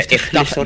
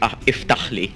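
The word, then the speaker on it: افتحلي: Yeah, iftahli. The first one is iftahli. It's like the hard H, like almost Arab.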